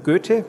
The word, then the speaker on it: Goethe: Tenemos el Instituto Goethe, en teoría es Goethe, pero eso es complicado de pronunciar.